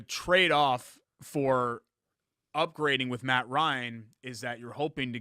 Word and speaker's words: Ryan: ryan you're saying it you're saying it in the same number of syllables that the word wrong is it's ryan i know how to pronounce ryan let me ask you the kind of bread a marble what rye okay the opposite of out n okay put those two together ryan i'm saying it's two words matt ryan if